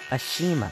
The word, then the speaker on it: Ashima: them Rosie Ashima you got that Mattel Ashima that's how you pronounce it stupid oh